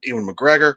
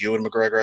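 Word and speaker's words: Ewan McGregor: then you had uh Ian McGregor I think Yan McGregor I think is correct pronunciation um but if we're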